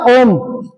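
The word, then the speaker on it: ओम्: तो इस ओम का उच्चारण कितना करना है? जितना लिखा है ओम जितना प्लुत का उच्चारण होता है उतना ही करना है। यानी ओम बस इतना ही क्योंकि प्लुत का उच्चारण तो उतना ही होगा। और बहुत सारे लोग क्या करते हैं? ओम कहां शुरू करा था? ओ और मा पहुंचने में कितने घंटे लग जाते हैं? बहुत लंबा लंबा इसको ले जाते हैं। वो गलत उच्चारण हो जाता है।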